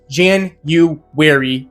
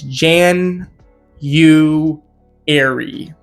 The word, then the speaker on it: January: Anyways, Jan-u-ary is how you pronounce it. It is Jan- u- ary.